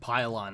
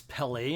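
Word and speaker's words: Pellaeon: captain i actually think his name isn't pylon i said it wrong it's pele and i guess anyway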